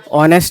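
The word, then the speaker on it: honest: As silent होता है। पता है ना कि हावर हावर नहीं पढ़ते हैं। वैसे सेम यही हो जाता है। ये क्या ऑनेस्ट है कि ऑनेस्ट है? ऑनेस्ट है। एज साइलेंट हो जाता है। ठीक है? तो ओ से पढ़ते हैं इसको।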